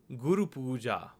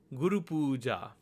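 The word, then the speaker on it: गुरुपूजा: worry about that and if you combine those syllables together you get guru pooja guru pooja this means the worship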